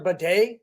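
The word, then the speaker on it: Badie: it would indicate defense had a day Tyler baday that's how it's pronounced had a day and the offense finally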